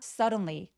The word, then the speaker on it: suddenly: 근데 suddenly 할 때 L 소리를 또렷하게 내려고 노력해주세요. 여기가 희미해지면 suddenly라고 희미하게 발음하시는 분들 정말 많으시거든요. suddenly라고 L 소리 윗니 뒤쪽에 혀끝을 꾹 눌러내는 느낌으로 발음하게 됩니다. The frog turned into a prince.